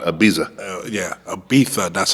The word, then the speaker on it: Ibiza: I'm gonna finish off in Ibiza because I want to see if they party as hard as Mykonos.